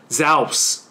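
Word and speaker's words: Ζεύς: 存在，那么它读作 Zeus，就是宙斯了。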